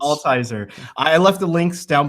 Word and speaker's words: Altizer: Altizer. It's German, so it's yeah, it's Altizer.